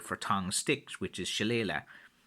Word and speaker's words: shillelagh: Again, for me, look, how I would usually say it is Shillelagh, and I think that's the most common way that I hear it pronounced now.